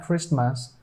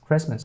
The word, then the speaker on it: Christmas: this one this word American people don't pronounce this T here and they say it's not Christmas it's Christmas let's go to this